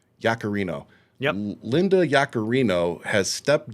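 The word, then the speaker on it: Yaccarino: What's Do you know how to pronounce this woman's name? Uh, Yakarino. Yakarino.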